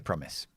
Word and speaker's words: promise: so it's Pro uh and it's not promise many people say promise it's promise promise so this is another closed syllable we don't apply the magic e and say I no we say promise because the stressed syllable is the first one keep a promise to